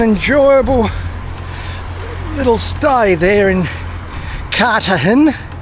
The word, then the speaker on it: Cartagena: Well, that was an enjoyable little stay there in Cartagena. You notice I've dropped the G and replaced it with a H because that's how they like to have it pronounced.